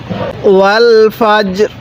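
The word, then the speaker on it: والفجر: জায়গার মধ্যে ওয়াকফের সময় জিমটা শক্তভাবে উচ্চারণ করব রটা হালকাভাবে উচ্চারণ করব তাহলে ওয়াল ফাজরি ওয়াকফ করলে কিভাবে পড়বো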